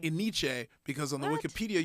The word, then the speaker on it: ENYCE: And Yeah, everyone would argue, how do you pronounce it? I said Because Iniche. Yeah, Yeah, yeah. Iniche. Then there was E-Nice. And then I was like, I would say that. NYC. ENNYCE. Okay. But it is NYC.